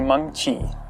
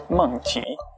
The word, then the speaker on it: Mengqi: It's actually Mengqi, and it has tone to it. It's Mengqi.